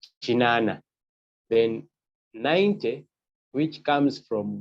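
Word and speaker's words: kinaana: 80 is written differently it's pronounced as chinana meaning 80. you take note this is k i n double A N A chinana then 90 which comes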